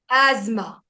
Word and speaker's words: asthma: Ama we are going to speak in Hindi but in English um we are going to say asthma. Asma asma asma asma.